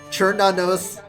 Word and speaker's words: Cernunnos: Churnanos is how Smite and I pronounce it. It's supposed to be the K sound.